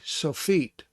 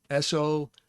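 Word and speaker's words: sofit: form and that is called the sophiet s-o-f-e-e-t like your feet so feet and so this is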